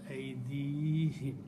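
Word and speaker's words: أَيْدِيهِمْ: So for the purpose of pronunciation, we pronounce aydihim. And we write that way. But the word is still home. Okay? So that's the reason of aydihim.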